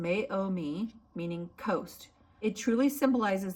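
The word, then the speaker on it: Meiomi: It's pronounced Mayomi meaning coast.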